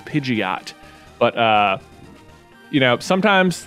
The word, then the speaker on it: Pidgeot: evolution of livid um which is pidgeot that's that's the appropriate way to say it um but people would